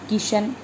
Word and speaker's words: किशन: किशन, कई लोग श को स बोलते हैं, किशन को किसन बोल देते हैं और किशमिश को किसमिस बोल देते हैं।